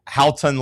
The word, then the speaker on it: Haotong: Haotong Li?